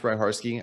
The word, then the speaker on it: Hryhorsky: My name is pronounced Hryhorsky.